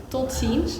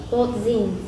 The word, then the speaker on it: tot ziens: In Dutch we say tot ziens. Tot ziens. Tot ziens. Did I pronounce it right? It's like tot, and that's like one word, and then the second word is ziens. Tot ziens.